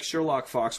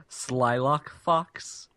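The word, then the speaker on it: Slylock Fox: okay cool there was one it was like Sherlock Fox whatever it was a fox who was a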